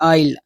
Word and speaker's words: aisle: ఏఐఎస్ఎల్ఈ ఆయిల్. But S is the silent letter in that word.